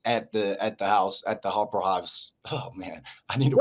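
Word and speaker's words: Hofbräuhaus: Harbor, you pronounce Hopper House? Hofbrauhaus House. Hofbrauhaus. It's famous.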